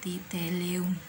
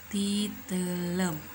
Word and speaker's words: titeuleum: bacanya jadi 4G uh Bukan titillium tapi titeuleum nya ada lagi nih growth